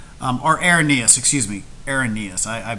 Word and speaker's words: Arrhenius: that it's um irenaeus a-r-r-h-e-n so er like pirate R then hen okay then um es IUS so uh the rainiest definition um our Airness excuse me aaronias I I pronounced it